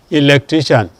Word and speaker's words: electrician: them will have the second to the last syllable stressed. Or probably you also have IAN too. Electrician again.